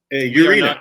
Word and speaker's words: Urena: Urena. Is that pronunciation correct? Urena is correct. That is right.